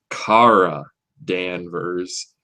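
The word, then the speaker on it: Kara Danvers: Cara Danvers and know by the way they stress that it's Cara Danvers um they're really adamant about that pronunciation for some reason I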